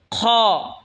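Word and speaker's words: خ: হলকের শেষভাগ হয়তো উচ্চারণ হবে খ।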